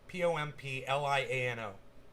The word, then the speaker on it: Pompliano: guy's name is anthony pompliano just like it's pronounced p-o-m-p-l-i-a-n-o pompliano anthony january six panel votes to hold